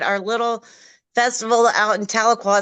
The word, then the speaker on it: Tahlequah: And we was like, "Tahlequah."